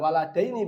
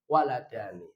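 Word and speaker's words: ولدان: Bukan waladaini bacanya, tapi waladani.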